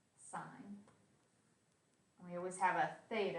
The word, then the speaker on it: sin: as s of theta it's not sin pronounced sign we always have a